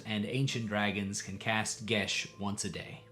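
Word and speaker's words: geas: Because indeed, adult and ancient dragons can cast gish once a day. If you've been pronouncing this guas for ages, don't worry.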